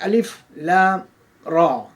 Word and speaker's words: Alif Lam Ra: of the book, that Alif, Lam, Ra, and they are to be pronounced separately. It is not to be combined.